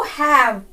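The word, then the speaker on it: who've: Next देखिए हु हैव, हु हैव। हु हैव से मिलकर बनता है WHO apostrophe VE, हुव। हु हैव का प्रोनाउंसिएशन है हुव, तो उसको हम कैसे प्रोनाउंस करेंगे?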